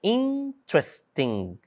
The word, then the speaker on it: interesting: No caso de interessante, interesting. Interesting, nós temos três. Então, olha, interesting, três sílabas apenas, tá?